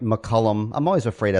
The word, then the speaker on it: McCullum: hello am I saying your name right McCullum I'm always afraid I say it wrong no